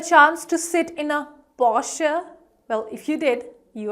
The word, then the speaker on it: Porsche: Okay, well, did you get a chance to sit in a Porsche? Well, if you did, you are lucky. I didn't. But yes, the correct pronunciation of this, again, luxury brand is Porsche, Porsche, Porsche.